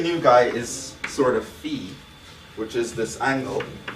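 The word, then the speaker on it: phi: El tomato tomato um I pronounce it Fe because there's another letter called Sai and then you just kind of mix that up right there's a PSI and then there's a pH I so I just just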